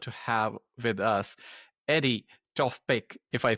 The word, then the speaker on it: Tofpik: we are honored to have with us Eddie Topek if I pronounce it right. That's correct. My name is Eddie Topek.